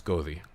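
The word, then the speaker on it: goði: So like I said, this is the letter F, E-T-H, F, and it looks like a D with a little slash at the top, and it's pronounced like a T-H. So it's Gothi.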